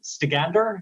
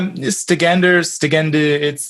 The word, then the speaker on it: Stegender: And you've also produced metal under the name, correct me my pronunciation, Stegander. Is that? Yeah, Stegender, it's vaguely Norse.